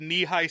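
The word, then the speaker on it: Nehi: Have you ever had knee-high soda, Dan? Is that just like a... It's a brand. So it's spelled N-E-H-I, but they pronounce it knee-high.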